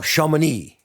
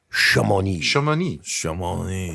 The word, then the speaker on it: Chamonix: Chamonix. ONIX. Chamonix. Huh. How interesting. The X would probably be silent.